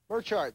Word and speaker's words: Merchant: and Cindy and Rick Merchant Merchant they say is how they pronounce their name Sydney and Rick Merchant